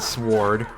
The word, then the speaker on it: sword: order to craft the sword and there i go pronouncing the w in sword again for some reason